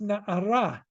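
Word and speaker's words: נערה: And many times in the Torah, there's a number of places where the word na'ar is written, but it's pronounced na'ara to tell you it's a female.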